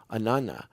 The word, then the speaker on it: Inanna: is an on the Inanna okay we pronounce it as one word even though it's two separate words okay the literal translation